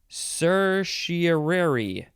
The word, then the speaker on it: certiorari: It is Italian, and there's a few ways you can say it. It is certiorari. Certiorari. Or certiorari, or certiorari. It's the same.